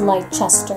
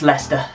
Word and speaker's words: Leicester: bring it on please don't tell me it's pronounced light chester no it's leicester oh i'm pretty sure there is a c there it's a silence who does that we